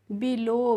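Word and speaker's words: below: next है बी ई एल ओ डब्ल्यू तो इसको हम पढ़ेंगे फ्रेंड्स बिलो बी ई को हम पढ़ेंगे बी एल ओ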